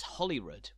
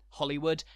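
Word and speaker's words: Holywood: not cockburn and it's Hollywood not holy rude Hollywood a historic heart of power and authority in Scotland rhymes with Hollywood not the star-studded District of Los Angeles but the beautiful Suburban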